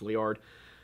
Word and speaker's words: Liard: Now, there are versions of this story that suggest they left from Fort Liard, which I'm now realizing I've been incorrectly pronouncing this time as Laird. It's Liard.